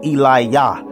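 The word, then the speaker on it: Eliyah: more english vernacular but his name was actually eli yah because there was no j sound in the hebrew language at the time they they pronounced god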